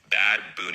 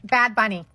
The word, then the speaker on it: Bad Bunny: 2025 Super Bowl halftime show will be performed none other than Bad Boon. Bad Bunny. It's uh Bad Bunny. Not it's not pronounced Bad Boon.